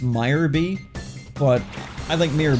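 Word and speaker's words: Miror B: Also, I'm pretty sure it's pronounced Meyer B, but I think Mirror B is a nicer name.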